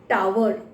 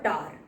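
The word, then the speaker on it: tower: That is called a टावर और टार. इसको हम टावर भी बोल सकते हैं, टार भी बोल सकते हैं, दो प्रोनाउंसिएशन इस तरह से एक्सेप्टेड हैं इसके.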